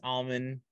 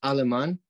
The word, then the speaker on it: Aleman: we got a special guest on today almond is it almond is it correct pronunciation last name yeah uh it's Aleman aliman gotcha okay perfect aliman uh so really